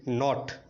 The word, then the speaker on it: knot: Next KNOT నాట్.